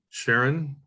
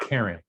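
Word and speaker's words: Charon: that's farther down uh to sharon or how do you say it karen it's pronounced karen but yeah okay but it's ch yeah i've never known how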